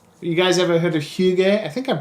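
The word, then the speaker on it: hygge: huge a game you guys ever heard of Hugh gay I think I'm pronouncing it correctly Hugh gay is like the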